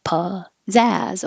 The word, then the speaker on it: pizzazz: This p at the beginning can be p or p because it's not stressed. So whichever is easier for you to find, you can say pizzazz or pizzazz, but have stress on the second syllable.